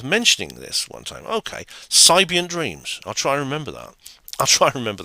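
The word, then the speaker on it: Psybient: is a music genre the Sigh part of the word is pronounced the same as sigh in Psychology yeah sibian dreams all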